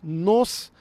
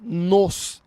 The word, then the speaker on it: nos: ela se levanta nós nos levantamos e toque olha a diferença nós é um som aberto é um o aberto então nós mais ou pronome reflexivo aqui seria nos é um som fechado então a gente pronuncia